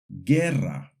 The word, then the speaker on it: guerra: When we see the combinations GUE or GUI, the U is silent. For example, guerra, guitarra.